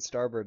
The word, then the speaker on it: starboard: port is left and starboard is right and how do you remember that well because rhymes with starburst and the starburst has the red which is right it's an r which makes right and port is like